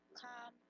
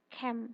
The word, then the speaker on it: came: He wanted to marry, but decided to wait until better times come along. Cam itu pakainya past tense, bacanya bukan come tapi cam.